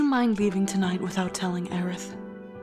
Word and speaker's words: Aerith: is more bad memories I always call her Eris it's not as aerith I always pronounce her name wrong hello we'll be passing